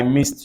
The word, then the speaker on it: missed: about m-i-s-s-e-d see I missed you I miss you missed you won't know or you can't imagine that this word has the same pronunciation as m i s